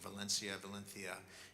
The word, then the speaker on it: Valencia: He's from Valencia is the way he pronounces it.